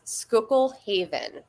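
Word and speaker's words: Schuylkill Haven: was uh it was skookul Haven which is it's spelled really weird like s hu y l k i l l Haven yeah but it's near Pottsville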